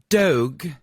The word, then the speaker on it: Dogue: Dogue, which rhymes with Vogue.